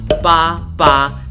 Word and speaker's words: 爸爸: And the reason is quite simple, because in Chinese, 8, especially when you put two 8s together, is pronounced as 爸爸, which means father.